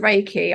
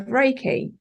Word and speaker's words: Reiki: pronounce it wrong um I just think of um The Rake in the garden that's how you can remember how it's um pronounced um and I found